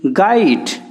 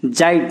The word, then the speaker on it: guide: इटा हेंदा GUEST गेस्ट, GUIDE गाइड, जेस्ट की जाइट ने हेबार।